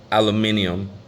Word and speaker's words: aluminium: a mess it's supposed to been heavy grade aluminum but it wasn't very heavy grade and um